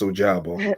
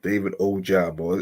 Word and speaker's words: Ojabo: It's Ojabo. It's David Ojabo. It's Ajabo. Okay, that's good. Okay, that's good. Ajabo. sound just Just like it looks. like I was pronounced. But as far as David Ojabo, so yeah, like I said 2 years in